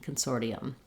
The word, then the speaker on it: consortium: for us when we have the letter T followed by unstressed syllables most of the time in American English that becomes a flap which sounds more like a d Consortium I recommend the Consortium